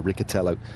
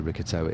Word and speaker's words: Riccitello: So Riccitello, Mathieu Riccitello it is.